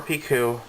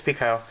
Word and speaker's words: Picoult: Is it Pico or Piku? I think it's Pico.